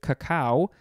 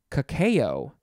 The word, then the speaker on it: cacao: Okay, next we have a word that I always say, cacao, which is one of the appropriate pronunciations, but it looks like you can also say cacao, cacao. It is spelled C-A-C-A-O.